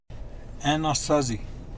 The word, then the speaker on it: Anasazi: stop was Anasazi Canyon Anasazi is how you say it in English but a Navajo you